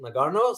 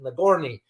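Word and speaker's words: Nagorno: the word what is some would pronounce it Nagano some will pronounce it nagorni so which means mountainous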